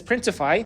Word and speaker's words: Printify: So the site I would use for this is Printify, and that's because it rhymes with Shopify.